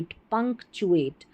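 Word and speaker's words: punctuate: तो पहला आपने पैटर्न सीखा कि किसी भी बड़ी स्पेलिंग में जब टी यू ए टी ई ये आखिर में आता है। इसको हम चएट करके पढ़ते हैं।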